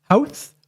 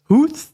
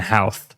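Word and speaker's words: Howth: The locals kind of pronounced it a different way than H. Ho ho h. There we go. Oh, I was saying house. It looks like house.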